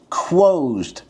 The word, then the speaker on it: Quoesd: This is the Quoesd. That's how it's pronounced, Quoesd.